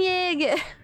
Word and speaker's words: Jaeger: Jaeger spelled with a J. Eren Yeager. Well, I guess it depends on which language you're spelling it in.